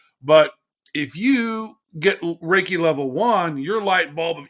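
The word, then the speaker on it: Reiki: is really interesting so the the principle behind raiki which is spelled re e i Ki raiki is essentially just your normal energy that you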